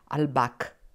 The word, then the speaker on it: Albach: Hein, on prononce en allemand Albach.